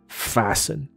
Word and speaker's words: fasten: 很 no no no， T 不发音，fasten，所以这是一个固定